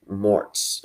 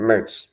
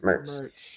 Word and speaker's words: Mertz: Billy Napier was juggling between two quarterbacks, DJ Lagway and um Graham Mortz or believe that's how you pronounce his name. Mertz Mertz.